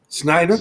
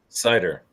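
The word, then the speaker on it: Seider: How do you pronounce his name? Snyder. Well, he's Cider.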